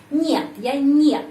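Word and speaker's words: нет: jawaban negatif nilil ya nyat nyat eh kata nyat dalam bahasa Rusia pengucapannya seperti nama binatang monyet Ya Ma Kita omit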